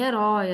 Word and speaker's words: herói: proparoxítona é acentuada Obrigatoriamente em Herói a sílaba tônica é o roi e é um ditongo